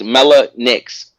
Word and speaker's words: Mellah Nix: That's how you say your name? I said it right? Mellah. Yeah, it's Mellah Nix.